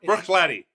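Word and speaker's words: Bruichladdich: the bottle, he's going to be able to pronounce that spectacularly. But we'll just call this the classic laddie. That's Brook Laddie.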